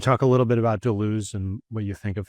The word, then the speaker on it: Deleuze: Well, the first thing I would say is that I usually used to pronounce it Deleuze, but then there's all these Hocknase people, as they say in German, high nose people who are like, it's Deleuze.